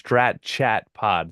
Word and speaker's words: Strat Chat Pod: follow my other podcast, Strat Chat Pod. That's strategy, but shortened to Strat, and then Strat rhymes with chat pod.